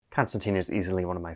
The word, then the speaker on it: Constantine: As an uncultured American, I will be pronouncing his name as John Constantine a lot in this video.